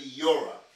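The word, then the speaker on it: Yoreh: If I was to try to pronounce it, it would be Yora.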